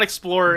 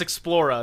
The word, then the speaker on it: Explorer: And it's not Explorer, it's Explora. That's how they say it.